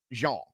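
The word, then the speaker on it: Zhang: or Zang or however I I I think his name is pronounced Jeang, but in America, Zang.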